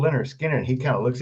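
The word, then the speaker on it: Lynyrd Skynyrd: I said, it's a band called Leonard Skinner. And he kind of looks at me real funny. He said, who? I said, it's called Leonard Skinner. I hand him the album cover. It's pronounced Leonard Skinner.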